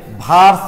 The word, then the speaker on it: Wurtz: Woods বিক্রিয়া শোনো, তোমরা যখন বিশেষ করে অ্যাডমিশনে যাবা, বুঝছো, WURTZ, উডস, WURTZ, জার্মান ভাষায় ডাব্লুকে কিন্তু ভি এর মতো উচ্চারণ করা হয়, তাই অনেক বইয়ে তোমরা দেখবা লেখা থাকবে ভার্স বিক্রিয়া।